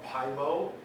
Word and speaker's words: Pyomo: Again, it's spelled P-Y-O-M-O. Yes. And I'm pronouncing it Pymo, so move on. No one said, am I going to pronounce it Pyomo? No, Pymo.